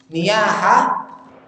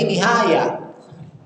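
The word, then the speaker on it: نياحة: Niyaha, ya. Jadi nihaya. Ya, niyaha kan orang yang apa? Ya, meratapi mayit. Dia bacakan dalil yang seharusnya dia sebut niyaha jadi nihaya. Diulang-ulang lagi.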